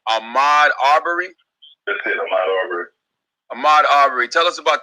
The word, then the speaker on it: Ahmaud Arbery: I want you to tell us what's happening with this, and correct me if I'm mispronouncing the brother's name, Ahmaud Arbery? That's it, Ahmaud Arbery.